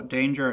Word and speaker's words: Kdanger: Devil Danger Neville is a devil performer from the universe who appeared in the 2022 set infinity. The K in danger is silent.